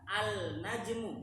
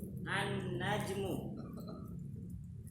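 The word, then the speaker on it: النجم: ketika kemasukan alif lam bacanya bukan alnajmu bukan tapi langsung masuk ke hurufnya najmuun Tid Iya walaupun enggak ada tasdidnya tetap bacanya begitu annajmu bisa dibuka di halaman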